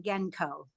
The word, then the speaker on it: Genco: No, it is Allison Genco. I just said it wrong.